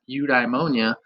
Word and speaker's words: eudaimonia: seeing it and then knowing like oh it's pronounced eudaimonia that builds my own connection of this word